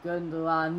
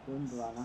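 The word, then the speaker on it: Gündoğan: Now Gundogan, however you say his name, is on it. I know you don't pronounce the second G.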